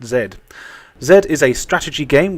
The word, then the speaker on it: Z: just called Zed and apparently yes it is pronounced zed zed is a strategy game where you controlled